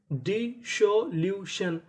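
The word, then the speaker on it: dissolution: डी आई D double S ओ, एस हमारा दो बार है, पढ़ेंगे एक बार, तो इतनी मीनिंग डिसो। एल यू इसे पढ़ेंगे ल्यू, टी आई यू एन इसे क्या पढ़ना है शन, तो पूरी मीनिंग डिसोल्यूशन, डिसोल्यूशन, डिसोल्यूशन।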